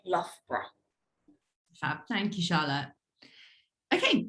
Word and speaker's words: Loughborough: So the best way to say Loughborough is, imagine it's spelled L-U-F-B-R-A, Loughborough.